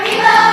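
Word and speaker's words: Ribault: Near, near, near, Rebo rhymes with Tebow, but nothing rhymes with Hans.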